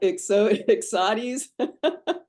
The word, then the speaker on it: Ixodes: So the Ixodes ticks, is that how you pronounce it? Sounds like Ixodes.